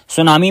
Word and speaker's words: सुनामी: सुनामी में टी लिखा होता है लेकिन पढ़ा नहीं जाता। साइलेंट होता है।